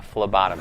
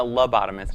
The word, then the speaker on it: phlebotomist: A phlebotomist. Can you spell that? Phlebotomist. It's not a lobotomist, it's a Oh, phlebotomist.